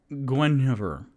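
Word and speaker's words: Guenhwyvar: ranger his panther is named g-u-e-n-h-w-y-v-e-r which is pronounced i kind of looked it up gwen over so there we go and r.a salvatore who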